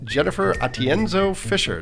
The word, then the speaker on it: Atienzo-Fisher: Tonight, our guest is Jennifer Atienzo-Fisher. Jennifer, did I pronounce that right?